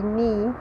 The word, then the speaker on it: knee: In English, when K is followed by N, in most cases we do not pronounce K, okay? So it's always silent. So we say knife, we say knee, we say knitting, and so on.